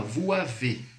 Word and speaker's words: vous avez: Ó, a pronúncia correta é sempre com a liaison. Vous avez. Vous avez, som de Z, beleza?